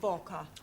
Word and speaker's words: Walker: slave driver at Mrs Walker Walker what w is pronounced W your employer's name name is Walker yeah Walker do you know